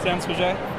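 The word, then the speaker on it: Sans Pagaie: So we just had the, and you probably pronounce it better than I, the San Paget? Uh-huh. Is that close? Yeah, San Paget.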